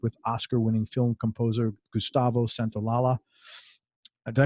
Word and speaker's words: Santaolalla: he also worked with Oscar-winning film composer Gustavo Santaolalla. Did I pronounce that last? Santaolalla.